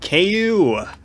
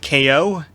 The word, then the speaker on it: Kao: or is it ko how do you say ku or ko uh when i saw people say its name i i hear the name cow like collect cal i assume it must be ko because you know it's